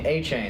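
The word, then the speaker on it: Achane: I mean, their running back, A-Chain. I didn't think that's how it would be pronounced. Then I looked it up the other day. I was like, wow, okay. A-Chain.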